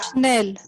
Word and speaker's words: schnell: And when you see SCH, it is pronounced as sh. That's why it is schnell.